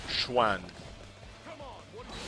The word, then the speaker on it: Xuan: S or CE, pronounced Schwan.